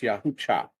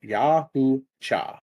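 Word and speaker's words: Yautja: It's Yahoo Cha. Yahoo. Say it like that. Yahoo Cha.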